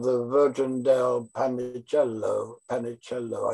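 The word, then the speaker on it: Panecillo: Panicello, I think it's the way you pronounce it.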